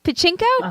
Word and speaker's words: Pachinko: why do I get all these hard to pronounce words tonight continuing pot Pacheco Pacheco pachinko pachinko okay bingo bingo bye Minji Lee a historical